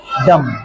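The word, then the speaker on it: dumb: य एम बी हम डी य एम बी डम समझ गए एम बी या एम के बाद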